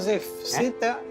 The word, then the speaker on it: Zew: llamo Zef. Me llamo Zef. Se escribe Z-E-W.